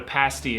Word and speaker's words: pasty: like, you guys need to know what a pasty is.